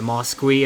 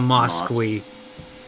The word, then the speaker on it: mosque: like building and there's also a mosquit as well i think it's pronounced it's a mosque it's a mosque the